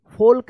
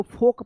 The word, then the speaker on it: folk: अब देखिए यहाँ पे FOLK, फोल्क नहीं, इसको फोक पढ़ेंगे, फोक, FOLK, फोक। YOLK, क्या पढ़ेंगे इसको?